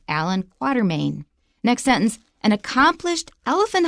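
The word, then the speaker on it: Allan Quatermain: In any case, his name is pronounced Allan Quarterman.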